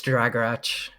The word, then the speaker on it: Dragorach: soft CH, so it's Dragorach.